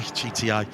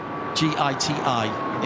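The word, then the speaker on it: Giti: the GT excuse me GT reading it literally gii TI is the name of the Tha company and it's pronounced GT g g uh tire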